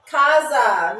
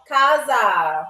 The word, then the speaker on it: casa: Kaza means house or home. Kaza.